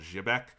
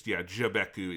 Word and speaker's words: Xebec: Sunrise Beyond was open around this time after they purchased and closed a company called Jibek, which, or it's Xebec. I think it's, Jibeku is how it's spelled in katakana.